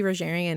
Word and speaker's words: Rogerian: I always want to say a hard G. Yeah. But to truly be Rogerian in that, and that is one, I think, actually very hard.